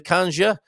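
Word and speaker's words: canja: The kanja rhymes with ganja.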